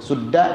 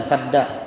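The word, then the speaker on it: سدا: Sudda dan sadda artinya sama, penghalang, dinding, tabir, sama saja, tidak apa-apa. Boleh sadda, boleh sudda.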